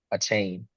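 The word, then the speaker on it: Achane: you aain aain aain a chain oh hey whatever you call3 yeah right the man the man came out and said my last name is pronounced a chain good for him good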